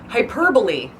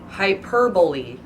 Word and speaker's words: hyperbole: Hyperbole. Hyperbole. Okay, that's how it's actually pronounced.